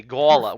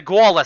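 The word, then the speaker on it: gaoler: work gawlers gayo g-a-o-l-e-r as a rhode islander i would say gala where the gullah sits a ring of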